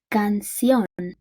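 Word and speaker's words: canción: see can see on the stressed syllable lists on the o that means let me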